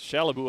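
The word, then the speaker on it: Kallebo: one of the assistant captains, uh, Shalibu. You spell that name K A L L E B O, but it's pronounced Shallabu.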